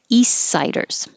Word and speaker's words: east siders: instead of saying east i'm not going to release the t and you won't even hear the t at all i'm going to keep